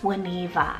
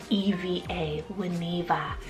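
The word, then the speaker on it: Wineva: longer form of Winnie what about the name juaniva so w-i-n-e-v-a when Eva this is a beautiful Welsh and Hebrew mixed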